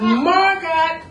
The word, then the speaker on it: Margot: really piss Margot off my name is Margot no no no no no the t is silent no it's not no it's not it's marot it's not V it's Vu